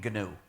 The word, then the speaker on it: GNU: and it will always be gnu so please pronounce the name gnu there's another erroneous pronunciation that people need to